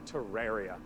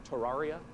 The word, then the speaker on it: Terraria: this next segment and talk to you about Terraria.